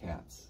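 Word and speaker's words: Tkautz: Melissa Touts. Is that how you say her name? Touts. Silent T. Touts.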